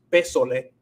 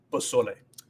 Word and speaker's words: pozole: Entonces pozole, pozole, no es pesole, es pozole.